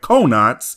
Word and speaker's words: Konats: What absolute heathen at Funimation decided to call Planet Konats, which is named after coconuts, Planet Konos?